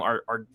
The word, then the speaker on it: Argueta: How do you pronounce his last name? Argueta.